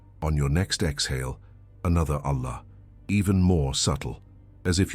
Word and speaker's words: Allah: Pronounce it in such a way that the word lasts almost the entire exhalation. It's not a quick Allah. It's Allah la dissolving slowly into silence.